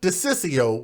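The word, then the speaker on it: DiCiccio: Detroit police captain Michael de Ciccio which is a very hard name to pronounce but I practice beforehand but it's Dec ICC IO that sounds like some type of an Italian name desist you said that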